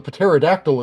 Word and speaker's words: pterodactyl: The pterodactyl is large. All right, then. And yes, I am purposely pronouncing the P to upset you.